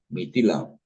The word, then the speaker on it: Mithila: Mitila. Mitil, es que tiene una H después de la T. Ah, sí, no se pronuncia Mitila, no Mitila.